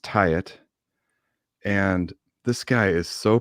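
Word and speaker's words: Taet: He's it looks like Tate, T-A-E-T, Tate. Mm-hmm. And he goes by Tate Music on Instagram, but it's pronounced Tyet.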